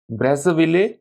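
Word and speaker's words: Brazzaville: ब्रेज़विले, इसका जो प्रोनाउंसिएशन होगा ब्रेज़ाविले भी हो सकता है और ब्रेज़विले भी हो सकता है।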